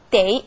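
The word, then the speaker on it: 得: 여기서도 다시 한번 나왔군요 그래서 데이 발음은 덮 아니라 데이 가 되겠죠 때 하면서 무언가 해야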